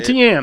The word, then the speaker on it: Etienne: Etienne is how you say his name.